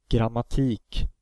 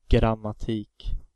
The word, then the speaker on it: Grammatik: Grammatik. The first A is followed by two M, so that vowel is of course short. Grammatik.